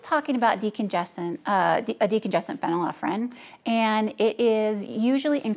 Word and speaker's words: phenylephrine: the committee determined medications containing folefrene falafrin am I saying it right doc then offering phenylephrine there we go are it effective as